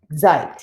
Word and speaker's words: seid: well, I would say, seid. Ihr seid cool. Now notice how I pronounce that. Even though there's a D at the end, I actually make the T sound.